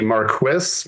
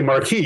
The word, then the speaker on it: Marquis: And by the way, the guy's name is Sparky Marquis. Most people don't know this, but that's how his name's actually pronounced.